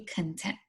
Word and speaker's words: content: Okay, so I pronounced it wrong. There's words that we can pronounce differently and have a different meaning. We know about those, right? So it's actually content. In this case, it's content.